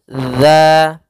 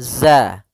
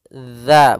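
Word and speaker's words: ذ: makhraj huruf dalal yaitu ujung lidah menempel dengan gigi seri atas gigi seri atas sehingga pelafalannya dia dza dza bukan Za ya dia tidak dialirkan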